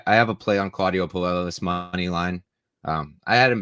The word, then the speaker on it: Puelles: The co-main event, Clay Guida against Claudio Puelles or Pujols, however you'd like to pronounce it. Puelles.